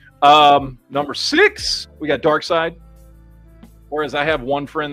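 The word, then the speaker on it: Darkseid: care how it's spelled nobody pronounces it dark seed it's dark side anyway phenomenal looking figure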